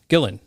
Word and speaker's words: Gillan: of rainbow and then Ian Gillian Gillan Gillan Ian Gillan right not Gillian I think yeah yeah